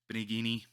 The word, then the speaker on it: Benigni: name and Anthony bergnoli Roberto it's Italian I'm not I don't know why I said uh Antonio it's Roberto benigni um he is in